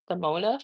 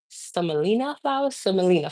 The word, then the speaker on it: semolina: So under the bagel, I have some Simona flour, which is basically durum wheat. I think it's when it's grind to like a certain consistency. It's called semolina flour. I keep on always saying the name wrong, but it's really durum wheat.